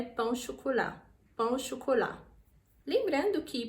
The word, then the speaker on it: chocolat: Mais uma vez, tem a letra T, mas a gente não pronuncia, então fica pão au chocolat.